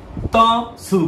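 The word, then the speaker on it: つ: তবে এটাকে আপনারা ত সু পড়েন, আরো সুবিধা হবে। ত সু, তবে উচ্চারণটা সু, বাট আপনি মনে রাখেন ত সু।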